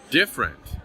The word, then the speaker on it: different: of syllables actually disappear examples of words like this are different we don't say different we say different another example is restaurant